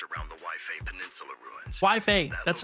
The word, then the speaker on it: Waifei: Waifei, that's how you pronounce it.